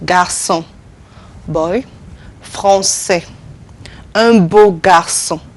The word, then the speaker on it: garçon: It's pronounced like a S. We said garçon, boy, français, un beau garçon.